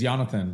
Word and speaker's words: Yonatan: The full name is Yonatan, but Yon is perfect and much, much easier. So go for Yon. Yonatan. Yonatan.